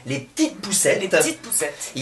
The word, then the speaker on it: Les P'tites Poucettes: Et du coup, donc, a émergé donc un projet qui s'appelle en faisant super attention à bien le prononcer, les petites poussettes.